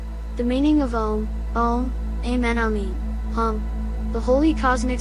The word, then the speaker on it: Aum: The meaning of Aum, Amen, Amin, the holy cosmic sound of Aum, or Amen is the witness of the manifested divine presence in all creation. Aum or Aum, pronounced A-U, is a sacred sound considered